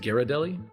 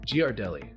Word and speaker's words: Ghirardelli: According to the company that manufactures this chocolate, it's actually pronounced Gardelli, like G- Whiz, because here is the actual Okay, once again, I feel like that's just an American thing.